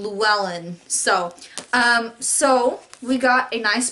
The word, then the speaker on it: Llewellyn: Well, you pronounce her name Llewellyn.